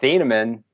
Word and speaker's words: Thieneman: a warm between two amps welcome to thienemann how you doing buddy did i just die